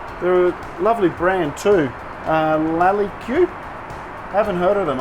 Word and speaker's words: Lalique: definitely sweet so my wife tells me that lolli Q is actually pronounced Lalique and is a very famous French brand it